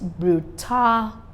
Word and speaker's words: brutality: insensitive then I have words that end with t y That's What brutality we said I was that end with Ty I stressed at the church syllable from behind or the second syllable from the beginning then